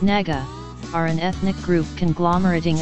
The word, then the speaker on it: Naga: naga people the naga people pronounced naga are an ethnic group conglomerating of several tribes